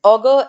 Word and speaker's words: augur: Next is augur and augur. Same in pronunciation, but different in spelling usage.